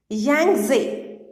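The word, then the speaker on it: Yangtze: highest peak is located yangzi how we will pronounce it yang Zi he is silent six thousand two hundred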